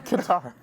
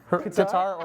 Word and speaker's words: Qatar: how do you pronounce it, John? Qatar. Qatar or Qatar, yeah.